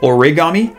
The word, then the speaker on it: origami: and i've been saying origami uh because we want to follow the japanese pronunciation then you want to say ori origami okay so wanted to